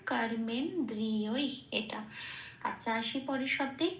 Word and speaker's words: কর্মেন্দ্রিয়: গেল তাহলে প্রথম পুরো শব্দটা কি পেলাম সংস্কৃত উচ্চারণ কর্মেন্দ্রিয় এটা আচ্ছা আসি পরের শব্দে কর্মযোগ এটুকুই তো